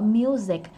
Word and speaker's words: music: Có âm K phía cuối nữa. Music. Và nhớ cho dấu nặng vô music luôn chứ đừng có music nha. Rồi nặng luôn đi, music, dấu nặng vậy đó ha.